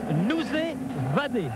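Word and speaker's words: Noz vat: Je vais essayer de prendre la bonne prononciation. On doit dire nous vadé ça veut dire bonsoir en breton.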